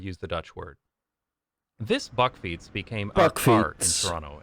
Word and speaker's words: bakfiets: In English, these are usually So not a bakfiets, a bakfot. Oh, how? How do you say that again? This is a type of bicycle known in the Netherlands as a bakfiets.